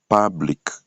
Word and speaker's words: public: a les mots comme public. Public. Quand vous regardez les signes là-bas, il y a un accent. Ça montre que la tonalité monte à ce niveau-là. On va dire public comme un public.